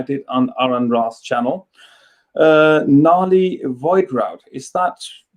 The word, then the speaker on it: Nahli Voidwrought: Nahli Voidwrought, is that correctly pronounced? Nahli Voidwrought, yes.